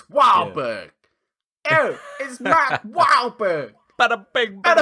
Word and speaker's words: Wahlberg: written in bostonian like his name is written phonetically it's wahberg ew wow but a